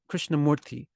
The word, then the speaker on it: Krishnamurti: and clean ta and a lot of times when we write it into Latin letters they put a th on everything krishnamurthy and they krishnamurti often they'll spell it with the th at the end krishnamurti Why th at the end because that sound sounds so toothy to the to the English-speaking native and the only time